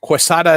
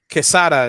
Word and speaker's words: Quesada: mr cheesy mr uh the american quesada is is the the american uh pronunciation i guess kesada is is his name so he he i